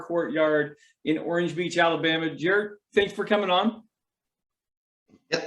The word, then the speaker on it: Jerr: in orange beach alabama jer thanks for coming on yeah it's jer people it's a weird name j-e-r-r people have you know